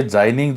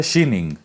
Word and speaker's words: Xining: तो हिंदी में ट्रांसलेट करके जाइनिंग लिख दिया, लेकिन इसका जो सही में उच्चारण है वो है शीनिंग।